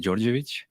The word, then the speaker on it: Dordevic: So, yeah, my name is Dordevic, or actually it's pronounced Dordevic.